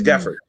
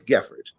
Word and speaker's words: Geffrard: I was just like, it's Geffrard. I know that, like, I know you can't roll your R's. You don't understand that it's a French ass name and your D is silent. So it's Geffrard.